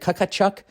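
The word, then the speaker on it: Tkachuk: do you say it is it Chuck Matthew um why is the T there nobody knows because it's annoying just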